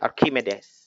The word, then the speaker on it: Archimedes: Ya, bacanya Archimedes.